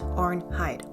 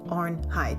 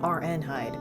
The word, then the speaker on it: Arnheid: see arnh Hy's past AR hide AR hide two syllables okay keep saying RN hide but anyway so her